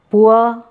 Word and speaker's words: poor: So, poor, cure, sure, tour. Okay. Poor. It is not, we Indians pronounce it as a poor, but it is not poor.